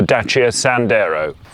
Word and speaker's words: Dacia Sandero: the chief but surprisingly cheerful world of the Dacia Sandero - yeah yes that is how it's pronounced is Renaud's romanian outpost and it's aiming